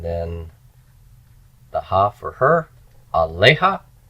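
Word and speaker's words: עליה: the ha for her, aleha. Accent is on the lamed, which means this is open and pre-tonic. It's got to be long.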